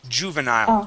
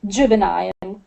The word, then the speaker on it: juvenile: sounds now uh this this here is a j sound we say ju juvenile try that juvenile good okay so uh